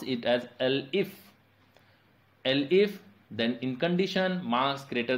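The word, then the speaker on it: elif: Else if SE is not there, just pronounce it as L if. Then in condition marks greater than 60 and marks less than equal to 80, then print, you have scored grade B. Similarly, L if marks greater than 40 and marks less than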